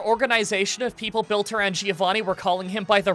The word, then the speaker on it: Giovanni: How do you guys pronounce Giovanni's name? Giovanni. Okay. Why? Who's calling Somebody you out? Somebody commented today and said it was Giovanni. Giovanni? Giovanni with a hard G.